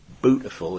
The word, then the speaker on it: Bootifull: Bootifull is how you say beautiful in Norfolk, which is where Bernard Matthews lived.